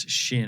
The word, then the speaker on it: Chêne: to my kids friend everybody pronounces it different so and it is shin and i know when